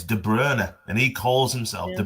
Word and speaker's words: De Bruyne: she says it's Mumm but all the commentators pronounce it manum. And yeah it's like Kevin De Brryer isn't it? It's De Brer and he calls himself De Brer. It's And but every commentator De Bruyne.